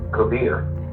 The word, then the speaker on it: Kabir: First, Kabir is the way it's correctly pronounced.